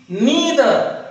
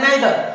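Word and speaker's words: neither: नीदर, इसी प्रकार से इस शब्द का भी एक और पॉपुलर प्रोनाउंसिएशन है, एक और पॉपुलर उच्चारण है, वो है नाइदर। तो अगर बच्चे नाइदर कहते हैं तब भी सही है और नीदर कहते हैं तब भी सही है।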